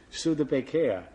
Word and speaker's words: Studebaker: money to buy a stud Baker the salesman who sold it to me he was French and he pronounced it sud and I thought this